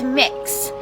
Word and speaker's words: Mix: name is mix k it's mix so kind of like cookie mix or mixing bowl that sort of thing that's how it's pronounced that is my name